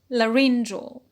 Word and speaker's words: laryngeal: the word larynx larynx when we have under the stress shifting suffix which is under the line rule e a l suffix it becomes laryngeal laryngeal so a stress shift